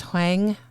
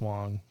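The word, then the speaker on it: Hoang: Hang I think. I think that's Hong. Correct me if I'm wrong. H O A N G.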